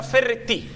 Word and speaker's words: Ferretti: Si pronuncia Ferretti.